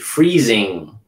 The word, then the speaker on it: freezing: alright freezing freezing okay sometimes people will leave off the G and they'll put a